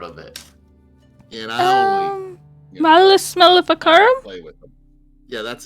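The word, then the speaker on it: Malleus Maleficarum: or from inside of a spell, and it's Malicic Maleficorium.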